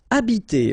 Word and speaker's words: habiter: Okay, remember that in French, the H, like that here, is not pronounced at all. Okay, so you don't pronounce it, so you get the first sound is the vowel A here.